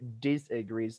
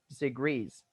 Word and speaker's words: disagrees: Okay, that is wrong stress that you say disagrees. Don't put a stress on this, all right? Say disagrees. Stress is on the last syllable.